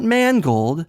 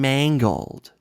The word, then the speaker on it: Mangold: James Mangold m n it's not Mangold it's not manganelo it's manganello and mangled James mangled I just call him